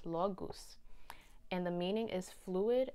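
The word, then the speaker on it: Laguz: on your current course this card is pronounced la la goose law goose and the meaning is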